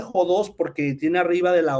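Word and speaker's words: ὁδός: significa camino fense esta palabra jods este se pronuncia jods porque tiene arriba de la o de la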